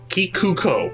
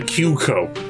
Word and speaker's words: Kikuko: No, you're actually saying her name wrong. Kikuko. Kikuko? Yeah. What did I say? You said Kyuko.